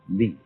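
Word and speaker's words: 理: And that is a word which originally meant the markings in jade, the grain in wood, or the fiber in muscle, and it's pronounced li.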